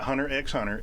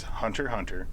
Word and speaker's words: Hunter x Hunter: Shippuden hunter hunter and no it's not hunter x hunter it's hunter hunter as you know that's what I call it off yeah it's hunter hunter the X is silent 3:07 daily sins in